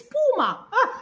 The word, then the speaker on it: Puma: No, it's Puma.